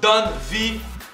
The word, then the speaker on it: Don Vi: promoteurs massacrent mon nom il massacra mon nom donne véridique avec des des je m avec CQ cqq comme des des noms possible what c'était fini de deux syllabes donne vie tout le monde comprend avec le i pour faire plus francophone on est la donne